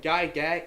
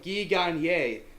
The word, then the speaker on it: Gagne: Squad 11 is Turbo, Kerbo, White Shadow, and Guy Gag. And okay, sorry, I'm still getting used to actually calling him by his real pronunciation. We got Turbo, Kerbo, White Shadow, and Guy Gagne.